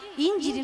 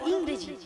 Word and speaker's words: ইংরেজি: আরে মাসি ইঞ্জিরি নয় বলো ইংরেজি, আর প্লাস্টিক নয় বলো প্লাস্টিক।